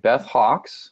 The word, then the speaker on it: Beth Hawks: episode three interview with nurse Beth Our Guest Beth Hawks did I pronounce that right Beth you did okay Beth Hawks I'm gonna read a little bit about her